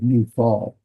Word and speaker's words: Niphal: Well, Ni is right here. Ni and fall. So, and that's how you pronounce this word, Niphal.